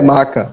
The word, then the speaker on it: Meca: onde tá Mac é maca maca maca às vezes se escreve Meca mas é maca em árabe seria maca justamente maca é onde